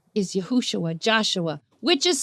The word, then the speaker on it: Yahushua: See, our Messiah's name is Yahushua, Joshua, which is spelled with 6 Hebrew letters, not 5 Hebrew letters. I know there's a lot of people that say Yahusha, but that's because there's 4 different ways that